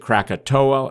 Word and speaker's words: Krakatau: spelled with a uke krakatua uh and based on some of the south pacific pronunciations that may be closer to the correct one but why is this